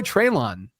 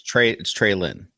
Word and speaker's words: Treylon: Maybe your boy Treylon gets some work this week. It's Trey Lynn. Whatever. Yeah, just put some respect on his name.